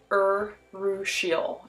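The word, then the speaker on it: urushiol: poison ivy plant and it is pronounced or russia or russia oh that is the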